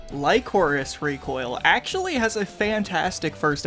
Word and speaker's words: Lycoris Recoil: Luckily it's only terrible because I either say Lacroix Recoil or Licorice Recoil. Lycoris Recoil actually has a fantastic first episode.